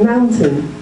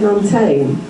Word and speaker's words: mountain: of um some students amounts might say Mal give it that stress but then say tame but I don't say it that way I say Mountain okay but if you said montane I would think they're saying maintain I I would mishear you so the first thing